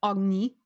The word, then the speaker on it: Agnes: Mark, I totally forgot to tell you that the nobility, Agnes's proper name is actually pronounced Agni, but she hates that.